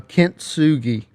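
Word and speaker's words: Kintsugi: yeah injected into my veins yeah so um pronounce the name of the new single for me uh Kint Sugi I believe which is which means what it's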